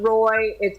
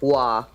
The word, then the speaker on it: Roy: and then it's not Roy no you said his name wrong it's not Roy it's Patrick law what raw his name yeah it's it's a claw thing okay one of the